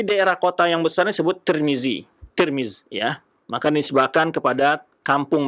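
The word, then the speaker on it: ترمذ: Tirmiz itu berbeda-beda cara baca. Ada yang membaca Tirmiz dengan baris di bawah tanya, ada yang baris di atas Tarmizi, Tirmizi atau Turmuz. Tapi yang masyhur dibaca adalah Tirmiz.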